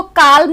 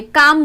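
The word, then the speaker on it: calm: इसको काल्म नहीं बोलेंगे, काम बोलेंगे, काम।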